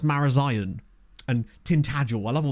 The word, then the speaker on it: Marazion: X like places like is it morazan but isn't it pronounced marazion and tintagel I love